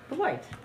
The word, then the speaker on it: Beloit: Is it Beloit? Beloit.